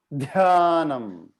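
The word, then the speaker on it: ध्यानम्: Dhyanam. Dhyanam. No, I think the aspiration DH is not coming up.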